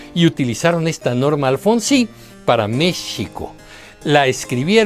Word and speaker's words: México: So when the name of Mexico was written , the sound was simply represented as an X. It was still pronouncing Méshico.